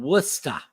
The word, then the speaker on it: Worcester: Worcester. All right. Sean Rod just says it's called Worcester. All right. Thank you for the proper pronunciation.